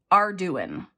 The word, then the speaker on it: Arduin: from her YouTube comment, it's pronounced Arduin. So Joanne, if you're watching, is Arduin the correct pronunciation? And she said it's Cajun and she sent me this beautiful card and she sent me 8 E-Bucks.